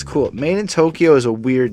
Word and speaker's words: MadeinTYO: MadeinTYO is pronounced as Made in Tokyo.